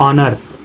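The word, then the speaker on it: honour: है क रहा है जब ओ से पहले एच आता है तब एच साइलेंट होता है कभी भी ओ से पहले एच आता है एच साइलेंट होता है जैसे देखो लिखा ऑनर ऑनेस्ट आवर इको जो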